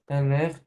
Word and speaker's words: aller: মানে Aller, sorry, aller, aller, আলে হবে, হ্যাঁ, নট লেখ, আর উচ্চারণ করতে যাবেন না, আলে অনলি।